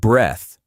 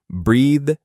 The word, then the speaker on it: breath: Pronounced with a voiceless th sound. Breath. Breath. like in death.